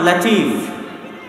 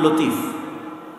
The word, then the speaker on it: লাতিফ: আল্লাহ সুবহানাতায়ালার দ্বিতীয় নাম লাতিফ আমাদের মধ্যে অনেকের নাম আছে আব্দুল লতিফ আছে না নাই এই লতিফের সঠিক উচ্চারণ হচ্ছে লাতিফ আল্লাহ সুবহানাতায়ালার নাম লাতিফ